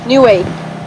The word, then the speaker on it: Niue: We are at Niue. Niue. Niue. Niue. Very important to say it right.